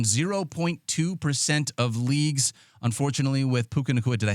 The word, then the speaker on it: Puka Nacua: Jordan Whittington, rostered in 0.2% of leagues, unfortunately, with Puka Nacua.